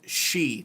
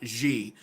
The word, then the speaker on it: Xi: And I know it's pronounced she, not Xi, but guess what?